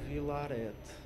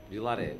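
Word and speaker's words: Villaret: Nem é assim que se, não sei se é assim que se pronuncia, mas o Teatro Vilarete. Vilaré, não diz o T. Ok. É um nome francês.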